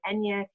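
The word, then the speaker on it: eñe: a spanish-speaking country and Enya is spelled out phonetically en ye but it's really the phonetic spelling of the extra letter and the Spanish alphabet which is used in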